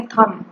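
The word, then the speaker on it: thumb: इसका हम प्रोनाउंस करेंगे थम. इसमें ध्यान रखने की बात यह है कि बी साइलेंट होता है, बी नहीं बोला जाता. हम इसको थंब नहीं बोलेंगे, थम ही बोलेंगे इसको हम थम.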